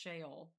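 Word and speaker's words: Sheol: Really weird said it's pronounced shaol.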